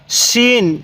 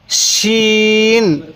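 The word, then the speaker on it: شين: scene scene তাহলে scene তাহলে scene হ্যাঁ সিনের উচ্চারণটা অনেকটাই চিকন আকারের হবে দেখুন সিন আমার সাথে বলুন সিন আরেকবার বলুন সিন এরপরে শিন এই সিনের উপরে তিন নক্তা এই ফোটা গুলার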